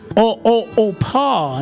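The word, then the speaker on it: Orpah: Her birth name was actually Oprah after a biblical figure, but due to frequent mispronunciation, Opa, not Oprah, Opa. Very interesting stuff. But due to mispronunciations, she became known as Oprah, and the name that later became globally iconic.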